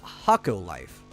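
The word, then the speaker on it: Hokko Life: But a game that we were talking about on the show maybe 2 or so weeks ago called Hakko Life. I think that's how it's pronounced. It's H-O-K-K-O Life, which is kind of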